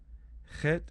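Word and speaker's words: ܚܝܬ: Chet, there's no equivalent. It's spelled KH, but it's that guttural sound.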